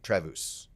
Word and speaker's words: Travus: branch of waterstone mortgage his name is travis travus friends call him travis but it's spelled t-r-a-v-u-s his dad's german whatever i